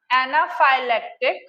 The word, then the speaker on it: anaphylactic: एनाफाइलेक्टिक, एना एना एना की spelling आती है ना, ए एन ए, एना, है ना, फाइ पी एच वाई फाइ, लेक्टिक की spelling L ए सी टी आई सी, लेक्टिक, एनाफाइलेक्टिक हुआ, और एनाफाइलेक्सिस, एना वही